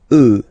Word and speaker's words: œufs: Then, un œuf, des œufs. Okay, and we'll make the liaison here to make it sound more beautiful.